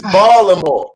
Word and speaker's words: Baltimore: Well, I want to tell you, if you go book on Baltimore, you gotta learn how to pronounce Baltimore. It's Baltimore.